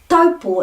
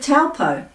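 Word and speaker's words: Taupō: How do we avoid the accusations of don't embarrass the family and don't show off when we're pronouncing taupo instead of taupo?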